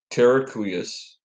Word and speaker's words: terraqueous: It says this paper introduces the term terraqueous That's how territoriality.